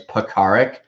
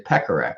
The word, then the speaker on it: Pekarek: I just look at them, and that's how it's like my last name's Pekarek, but a lot of people say Pekarek because that's what it looks like, and it scarred me for life, being called Pekarek or Pecker as a nickname.